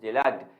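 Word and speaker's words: deluge: जैसे for example आप, मैं आपसे कहूं कि बाढ़ आ गई है तो इट इज डिलग्ड, इट इज डिलग्ड। Done. ये वाली बात आपको याद रखनी है, आप इसे पढ़ेंगे डिलग।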